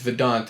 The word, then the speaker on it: VEDVNT: for that uh my name so it's it's vedant it's v-e-d-v-n-t perfect that's how you spell it and then the dumb music on Instagram